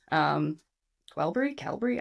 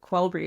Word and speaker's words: Qelbree: or Qelbree or whatever, Qelbree? I don't even know how to say it. Fuck. Qelbree is what I've always said, but there's no U in it, so I guess we're wrong.